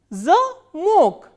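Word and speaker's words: замо́к: So, how will we pronounce this word? Zamok, zamok.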